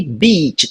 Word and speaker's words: beat: que é bitch e beat, tá? E aqui a diferença vai estar entre o I curto e o I longo.